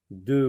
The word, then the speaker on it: deux: D avec E, ça se lit E. Et X ici, comme dans le mot noix, ne se prononce pas. Mais elle peut se prononcer, ce X là peut se prononcer, cette lettre peut se prononcer si le mot deux est suivi d'un mot qui commence par une voyelle. Par exemple, deux enfants, deux hommes, deux années. X qui devient Z.